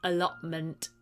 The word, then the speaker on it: allotment: person owns allotment or it might be pronounced allotment without the t an allotment is a